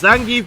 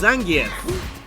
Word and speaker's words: Zangief: that one on the board fun fact Zangief is a lot easier to say but that's not how you actually pronounce the name it's actually pronounced zangier he's a Russian that's how you pronounce name